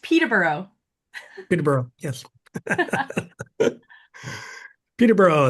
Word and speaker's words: Peterborough: I'm going to turn it over to Terry, and it's pronounced Peterborough.